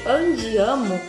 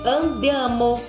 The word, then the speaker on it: andiamo: Então, por exemplo, a palavra escrito andiamo não é giamo, é andiamo, di. Ele vai fazer esse som do diamo, andiamo, entenderam?